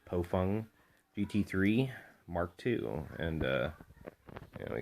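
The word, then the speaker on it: Baofeng: Today we have the bofung, it's actually pronounced bofung, GT3 Mark II, and we got Bubba over here.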